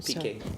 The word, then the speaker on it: Piqué: Multi-award-winning singer Shakira reveals why she won't marry how is it pronounced again? Piqué.